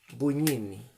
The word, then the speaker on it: Bugnini: de que Aníbale, bunini, bugnini se escribe buñini, se lee como que fuera una ñe. Cuando hay una G con una n se lee como que fuera una ñ buñini.